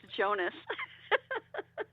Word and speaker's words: Jonas: It's Jonas. Everyone says Jones.